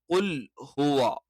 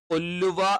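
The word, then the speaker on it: قُلْ هُوَ: എന്ന് പറയുമ്പോൾ അപ്പൊ ഇവിടെ ശ്രദ്ധിക്കണേ കുൽ ഹുവള്ളാഹു കുൽ ഹുവ കുൽ ഹുവ കുൽ ഹുവ അല്ലാതെ കുല്ലുവ എന്നായി പോകരുത് തെറ്റാണ് കുൽഫുവ എന്നായി പോകരുത് ഇതെല്ലാം തെറ്റാണ് അപ്പൊ കുൽ ഹുവ അള്ളാഹു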